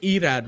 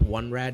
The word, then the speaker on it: Irad: Same roster that you know, but they bring in they pronounce it Irad, right? Not one rad, it's Irad.